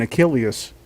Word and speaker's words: Achilles: Oh, I didn't know there was a U in Achilles. I thought it was just Achilles. That's sort of like the English pronunciation.